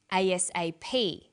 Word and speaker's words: ASAP: is pronounced separately but the last letter is pronounced more strongly because it carries the primary stress so we say USA ASAP ABC and TV listen